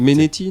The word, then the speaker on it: Mainetti: Menetti, non? Ils disent Mainetti.